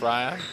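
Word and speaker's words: Rayan: Ryan, and I want to check his name is pronounced Ryan.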